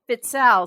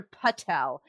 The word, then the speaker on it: Fitzell: s u an and fitel some people hear pel it's fitel so it's f is